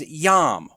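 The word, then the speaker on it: יוֹם: The first is Qes, Kates is how that's pronounced. The second is yom, Y-O-M.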